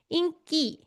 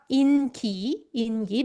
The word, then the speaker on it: 인기: And 인기, 여러분, notice that I pronounce 인기 as 인기. Not 인기. That's how native speakers pronounce this word.